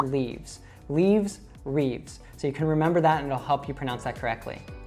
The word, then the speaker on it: Reeves: Now, the last name, a lot of people might see how long this is and think that it should actually be said as like Reeves or something like that, but it's just one syllable like the word leaves.